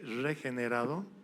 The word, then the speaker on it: regenerado: Puedes decirle al hermano, a la hermana que tienes al lado, "Eres regenerado." Amén. ¿Habrán pronunciado bien la R? No, no con D.